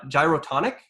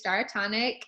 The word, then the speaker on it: Gyrotonic: around another thing uh gyrotonic yeah so um that you did actually pronounce it correctly it's dyatonic um i teach daratonic